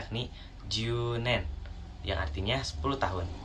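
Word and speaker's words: 十年: dan cara bacanya yakni junen, yang artinya 10 tahun. Sama seperti kyunen, karena U-nya 2, jadi bacanya agak panjang ya di bagian U-nya.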